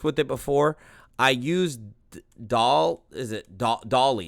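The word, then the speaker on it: DALL-E: I used Dolly? It's kind of spelled like Wally, but Dolly.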